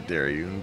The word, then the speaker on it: Darion: That's, I say Darion, but Dar is fine.